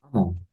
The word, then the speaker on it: among: among, Gimana? among, Among. Bacanya emang ya. among, Emang. Jadi emang.